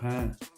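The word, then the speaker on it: हैं: Ici, trème personne du pluriel, c'est hin. C'est ça qui différencie. bien prononcer le H et bien prononcer le Nasal à la fin pour expliquer pour bien mentionner qu'on parle de la trè personne du pluriel.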